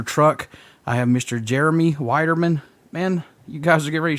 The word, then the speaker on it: Widerman: going really good and thanks for pronouncing my last name correctly yeah I'm sure usually everybody calls you bald or men or something yeah exactly everyone always likes to throw that L in there like I said you